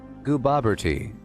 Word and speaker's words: Gooboberti: It's pronounced Gooboberti. Gooboberti.